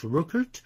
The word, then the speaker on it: Rückert: But Friedrich Rückert, that would be pronounced in English Rückert.